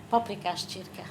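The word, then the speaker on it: paprikás csirke: Paprika circa, avec l'accent tonique.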